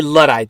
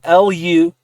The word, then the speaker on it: luddite: a luddite this is our word of the day a